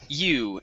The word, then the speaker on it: you: Okay, so here instead of saying ju, okay, it is you.